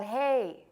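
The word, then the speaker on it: ה: you every time so this letter is called hey hey how you doing that's fine all right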